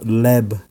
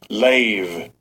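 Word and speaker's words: לב: in in Hebrew it's it's said it's called leb all right and actually let me play the proper pronunciation here Strong's H 38:20 lave lave okay see I said it wrong lave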